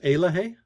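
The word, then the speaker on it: Eloheh: difference between happiness and well-being yeah and it's pronounced aloh aloh thank you yeah it's a Cherokee word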